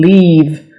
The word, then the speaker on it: leave: also a little tricky some people say uh live and there's a huge difference between live and leave live is spelled like this l i v e live means to reside in a place for example I live in the United States where do you live this is leave I need to leave